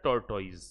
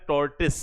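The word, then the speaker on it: tortoise: हम इसे बोलते हैं टॉर्टोइज। हालांकि कई लोग इसको प्रोनाउंसिएशन में टॉर्टोइज नहीं कहते, इसको कहते हैं टॉर्टिस। क्या कहते हैं, टॉर्टिस। तो एक ही बात है, कोई फर्क नहीं पड़ता।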